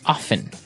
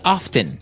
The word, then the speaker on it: often: people like to pronounce often right they kind of leave out the strong T sound while other people say often that's right both forms